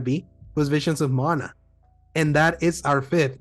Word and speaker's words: Mana: Mana, actually, it is pronounced that way. I always mess that up.